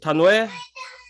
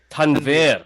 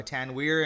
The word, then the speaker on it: Tanvir: right yeah that's fine the real pronunciation is tanvir okay but it's you know i also go by tan weir and some people call me tan weird uh uh you know